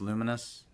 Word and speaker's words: Lumines: Yeah, I heard it looks like Lumines, but it's pronounced Luminous.